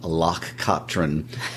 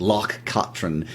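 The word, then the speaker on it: Loch Katrine: like to point out that pronunciation was taught to us by our good friends Hamish and Nancy in Scotts you were mispronouncing it for a while they they corrected it so that Locke Katrin and there are records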